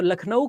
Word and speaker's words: लखनऊ: बड़ा कबाड़ा किया है अगर आप कहीं पर भी खराब नाम देखते हो जैसे लखनऊ तो लखनऊ का नाम वैसे हिंदी में लखनऊ है लेकिन अगर आप उसकी स्पेलिंग देखोगे तो अंग्रेजों ने उसका कबाड़ा कर दिया क्यों क्योंकि एल यू सी के एन ओ डब्लू लखनऊ अब सोचो अंग्रेजों को लखनऊ कहना आता नहीं था क्योंकि उसमें खा के